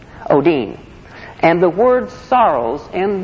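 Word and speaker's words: ὠδίν: Greek word o Odin ODI in and it's pronounced Oh Dean Oh Dean and the word sorrows in the Greek means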